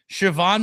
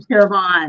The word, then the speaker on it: Siobhan: So, the B and the H make the V sound and it really hangs people up.